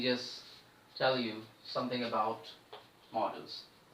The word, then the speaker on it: modals: There are many students who pronounce this word as modals. So students, make sure that the pronunciation of this word as modals is absolutely wrong. You have to pronounce it as models.